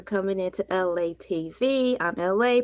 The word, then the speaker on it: Elay: I'm LA, pronounced like LA, like the city.